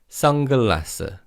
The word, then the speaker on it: 선글라스: Now, with pronunciation, just like 안경, the ni은 in the first syllable almost sounds like iung. So in fast speech, it's 선글라스.